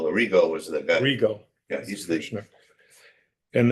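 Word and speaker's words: Arrigo: Rigo.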